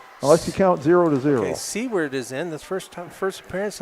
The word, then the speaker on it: Seward: Okay, Seward is in. This first appearance of this match for her. I believe that's Swords. How do you say it, Jeff? Swords. Swords.